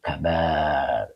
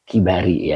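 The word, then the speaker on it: الكبار: Ai fi qurbil auliyail kabar. Eh kibari ya dibacanya ya.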